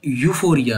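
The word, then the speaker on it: euphoria: इसकी सही प्रोनाउंसिएशन करना सीखिए आप। ये यूफोरिया है।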